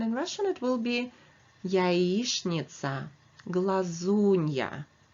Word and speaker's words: яичница: Russian it will be яичница. Please remember that letters ch and n in the middle of the word are pronounced as shn. So that's why I'm saying яичница.